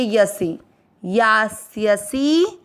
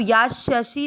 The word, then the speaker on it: यास्यसि: ये ध्यान रखना है कब या शशि नहीं है वो या स्यसी है, फिर ला घ है लाघवम।